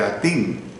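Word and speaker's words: Hattin: como los Cuernos de Atín. La palabra Atín se escribe con H y doble T, los Cuernos de Atín, que era un lugar llano donde podía reunirse una multitud.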